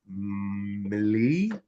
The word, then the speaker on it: Milei: Javier Milei. Milei. Spell it.